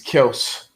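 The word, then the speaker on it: Kelce: linda jefferson oh yeah we are pronouncing kelsey's name it's kels apparently oh it's kelsey i i heard i heard him come out he just came out and said that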